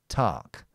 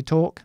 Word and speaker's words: talk: Uh if you want the American pronunciation, then um you don't round your lips so much. You say tark. I'm talking. I'm talking about sport. That would be the American pronunciation. So, uh I say talk, they say tark.